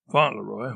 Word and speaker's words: Fauntleroy: Fauntleroy, which is pronounced Fauntleroy, not Fauntleroy, was a member of the Dragoons, a Dutch version of dragons.